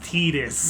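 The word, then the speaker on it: Tidus: And yeah, by the way guys, it is Tetus. As a matter of fact, even though for some even though it's like spelled Titus, it it is Tetus apparently.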